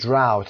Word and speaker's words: drought: تلفظش رو دقت داشته باشید. drought D-R-O-U-G-H-T برای دوستانی که به فایل صوتی گوش میکنن.